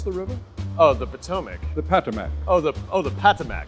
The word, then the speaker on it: Potomac: How did you pronounce the river? Oh, the Potomac.